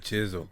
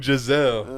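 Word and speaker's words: Jissele: why I need you he said chisel June Giselle thank you and hey Sis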